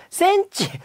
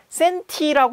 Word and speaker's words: 센티: 이제 이게 언제 부처가 이렇게 발음하는 경우가 많잖아요 센치 이거 몇 센치야 뭐 이렇게 근데 사실은 이게 영어에서 나온 거기 때문에 센티 읽는게 정확합니다 뭐 익숙하게 알아들을 수